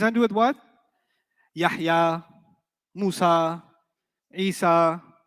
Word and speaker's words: Musa: Musa will always be non-flexible. Musay. You haven't heard Musi, you've heard Musay. That's a qira'ah difference. It's a pronunciation difference, not a grammar difference.